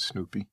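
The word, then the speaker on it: Snupie: It's not spelled like the dog Snoopy. It's S-N-U-P-I-E, but I think that's how you pronounce it. Well, I pronounce it Snoopy.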